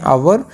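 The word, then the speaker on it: hour: क्योंकि आवर में जो है एच साइलेंट रहता है, तो इसकी जो साउंड है, जो प्रोनाउंसिएशन है, इसको हम पढ़ते हैं आवर, तो आवर की जो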